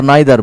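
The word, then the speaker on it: neither: नीदर लिख सकते हैं, नीदर और नाइदर बोथ, इसको दोनों ही तरह से आप पढ़ते हैं, इन्हें दोनों ही तरह से आप पढ़ते हैं। द two pronunciations of द word नीदर, नाइदर, either, either one is British, the other is American.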